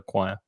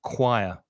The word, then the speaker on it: choir: It looks like it's choir or something, but Oh, the choir. Uh-huh. pronunciation is choir. It's the k sound. Choir, choir.